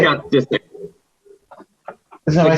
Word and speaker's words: Disick: Disick. Isn't that what I said? No, you said Disick, like a Dyson vacuum cleaner. Not like you just pronounced the I.